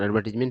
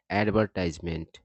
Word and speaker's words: advertisement: और इसका उच्चारण की बात किया जाए एडवर्टीजमेंट का, तो दो तरीके का इसका उच्चारण होता है। एडवर्टीजमेंट भी होता है, ब्रिटिश इंग्लिश में इसका उच्चारण एडवर्टीजमेंट होता है, और अमेरिकन इंग्लिश में होता है एडवर्टाइजमेंट, ठीक है।